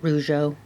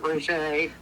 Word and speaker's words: Rougeux: cousin all right and has your family always pronounced it rjo well we actually pronounce it Ro I wonder why we